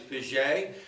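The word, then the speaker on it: Piggee: name is abraham vijay it's spelled p-i-g-g-e-e i had them in class i called him piggy for about two or three days before i realized it was pisje and uh but you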